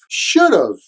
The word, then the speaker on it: should have: pronunciation of should have should have is contracted as should have should've but usually in conversation the at the end is unstressed so should a sounds like shut up shut up shut up